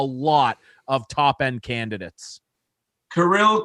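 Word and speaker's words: Kirill: there is a lot of top end candidates karil caprizov that's how he wants his name pronounced wow okay off the board yep he'll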